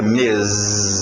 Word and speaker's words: Ms: outra abreviação MS e a pronúncia fica mes som de z não é mes s